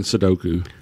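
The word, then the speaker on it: sudoku: a crossboard yeah what I think he's playing sidoku oh thank you for pronouncing it correctly okay I tried so we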